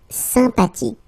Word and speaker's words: sympathique: Remember the H is not pronounced. Sympathique.